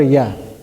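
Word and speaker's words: ي: Ya is pronounced from the middle of the tongue.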